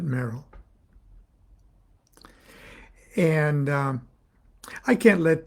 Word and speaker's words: Meral: her magical Persona was Sor merel m e r a l and we pronounced it Merl and um I can't